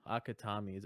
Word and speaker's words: Akutami: Yeah, you'll probably like Kaizen because Akutami that's how you pronounce the name.